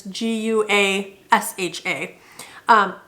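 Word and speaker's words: gua sha: uh I have and I'm gonna probably butcher how this is actually pronounced the gouache wash I believe it's GU a sha it is just a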